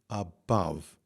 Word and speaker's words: above: sky above now above there's a word where we would put emphasis naturally on the second syllable so it's going to be above all right so we